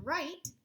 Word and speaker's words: write: The word write, the WR is making the R sound, and then we have the word part ite, and we're using that silent E on the end to make that vowel say its name.